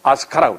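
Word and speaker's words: 飛鳥: 그래서 이 일본 학자가 표현하는 말이 날빛자, 세조자 세 가지 나라와 앉아서 해서 비조 문화, 이걸 일본 발음으로 아스카라고 그래.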